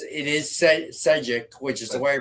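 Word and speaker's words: Šejić: It is pronounced Sijic. I forget who corrected me. No, it's Stepan Sejic.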